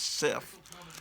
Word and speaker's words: Sif: up with Sif, not, it's pronounced Sif. When I was a kid reading these comics, I thought it was Sif. That sounds a little bit like a disease, though.